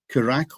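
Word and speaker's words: Curaçao: Japan, uh, Cotto and how do you pronounce this? Kuraco or whatever they're called, which is in well done.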